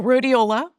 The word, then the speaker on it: Rhodiola: I've found a supplement called, I can't pronounce the name properly, but Rhodiola? Oh, rhodiola?